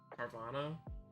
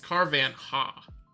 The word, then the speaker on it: Carvanha: want to hunt that carvana carvan huh it's carvan ha that's how I remember how to spell it I've been trying to